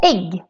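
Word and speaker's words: ägg: Another example is the word egg. Egg is also written with a with two dots on the top, but still pronounced like a short version of the e. Egg.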